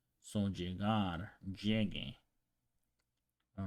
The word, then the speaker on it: llegue: is because otherwise, if you pronounce llegue without the U over there, it will be pronounced llege because of rules that we learned before. So the G before the E or the I is pronounced more like an H in English. So llege. But in order to preserve this sound from the original word, so llegar, we change it. We spell it this way to preserve the ga sound.